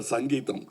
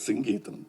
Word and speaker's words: Singeetham: and all in Kamagam there was always a confusion how to pronounce his name he used to get very upset because Mr. Sangeam. No it is singam please.